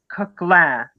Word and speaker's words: Koechlin: I think we would actually enjoy the work of Charles Coquelin, whose surname is spelled Koechlin, who lived until the